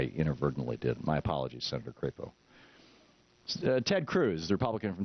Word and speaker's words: Crapo: fine to me senator crapo from IND from Idaho am I mispronouncing that I'm I'm I'm guessing he doesn't pronounce it that way it's crepo right crepo okay the Republican from